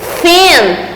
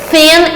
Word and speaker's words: thin: Além de eu colocar a minha língua entre os dentes, né, para fazer esse som do TH, que é um som que não existe na nossa língua, né, no português, ó, thin, thin.